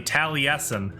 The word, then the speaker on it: Taliesin: jaffe it's spelled just like that but they pronounce it apparently taliesin i bet that drive them drives him nuts